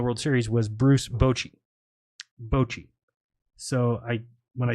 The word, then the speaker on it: Bochy: Bochy. So when I say Bochy, it just comes out Bochy.